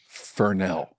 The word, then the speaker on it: Fresnel: What's a Fresnel? What's a Fresnel? And my teacher just looked at me and said, it's pronounced Fernell.